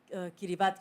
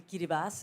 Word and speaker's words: Kiribati: archipelago and this is a place called kiribati or actually kiribati if i shall pronounce it correctly which is a uh